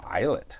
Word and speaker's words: eyelet: Oo, eyelet. That's a fancy word for this time of day. It's not. It's two syllables.